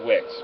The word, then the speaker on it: Wix: The first drawing says Wick found, and I know it's pronounced Wicks, correct? I know Right, it's WIX. okay.